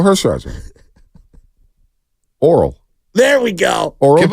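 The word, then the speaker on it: Orel: He's just not pronouncing his name properly. Who? Hershiser? Yeah. Give me the first name. Earl Hershiser. Oral.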